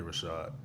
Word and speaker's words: RVSHVD: It's just it's Rashad. Like 1, it's like this is me. 2, like this is how you say my name.